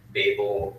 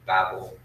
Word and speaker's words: Babel: It also includes the Table of Nations, and it also includes the Tower of Babel or Babel, however you want to say it. I think either way is acceptable.